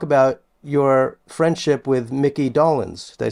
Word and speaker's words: Dolenz: And you talk about your friendship with Mickey Dolenz. Did I say his name right? Dolenz?